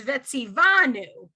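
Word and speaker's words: וְצִוָּנוּ: was telling you that you want the emphasis on that syllable so it's vetsy vanu right now it's confusing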